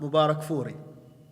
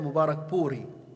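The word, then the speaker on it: Mubarakpuri: Shaykh ar-Rahmah Mubarak Furi, or better Mubarak Puri. That's how it's said in Indian. In Arabic, because we don't have the P in Arabic, we say Mubarak Furi. He is Mubarak Puri, and that's where he comes from.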